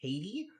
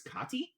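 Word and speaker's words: Caty: supposed to be pronounced Katie, but it's C A T Y. So, I think it's Kotti Kati.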